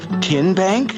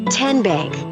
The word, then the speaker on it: TN Bank: you say the name tn bank nope tin bank uh-uh so what is it ten bank ten as in tennessee right here where all